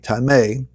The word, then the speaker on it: tamei: that is called timain if you want to spell that out transliterated t-a-m-e-i time a and that which is time a is those